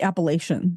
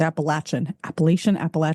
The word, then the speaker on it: Appalachian: So, well, that reminds me of how the Appalachian mountains, Appalachian, wherever you're from, that's how you pronounce it.